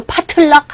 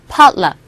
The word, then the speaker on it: potluck: 이거 파틀락 하지 마시고, potluck. 뭐가 깃발이 팔락팔락 한다고 할 때 거의 그런 식의 발음이죠.